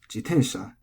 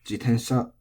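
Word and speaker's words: 自転車: Now, jitensha, actually, because the Japanese people listening might have thought I made a mistake, it has two pronunciations. It's jitensha and jitensha.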